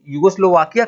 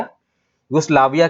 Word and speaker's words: युगोस्लाविया: तो इनको Nobel peace prize मिला, और ये युगोस्लोवाकिया की थी, सॉरी थोड़ा सा प्रोनाउंसिएशन गड़बड़ हो गया, युगोस्लाविया की थी ये, युगोस्लाविया की।